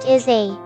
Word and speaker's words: essay: write an essay together essay essay essay is pronounced asay an essay is a